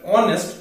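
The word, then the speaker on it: honest: একইভাবে যদি এরকম থাকে অ্যান অনেস্ট ম্যান, বাট অনেস্ট শুরু হচ্ছে এইচ দিয়ে, যেটা একটা কনসোনেন্ট, কিন্তু তার উচ্চারণটা কিন্তু হচ্ছে না, এইচটা সাইলেন্ট, তাহলে উচ্চারণটা কি হচ্ছে অনেস্ট ম্যান।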